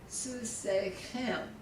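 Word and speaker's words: סוסכם: good with this, that in the plurals though, in the type 2, the accent goes to the last syllable, like y'all's horses, susechem, susechem, susechem, and susehen. So the accent goes on the end.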